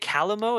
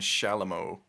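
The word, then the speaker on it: chalumeau: If you really enjoy Is it Calamo? Is that how you say it? Sorry, say those two again. Clarion and Shalamo.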